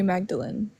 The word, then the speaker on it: Magdalene: Hi, Magdalene. Hello, Magdalene. Hello, everybody. Do you want to run? Are we pronouncing that right? Yeah, it's like Mary Magdalene.